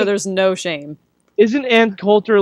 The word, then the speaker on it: Coulter: Yeah, how do you pronounce her last name? Everyone's saying it differently. You said Cutler. I said Coulter. Yeah, it's Coulter because Cutler is a horrible quarterback.